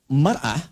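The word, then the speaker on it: مَرْأَة: Ya, kalimatnya sama, cuma cara bacanya beda. Al-mar'atu kal mir'ah. Yang satu pakai fathah, yang satu pakai kasrah.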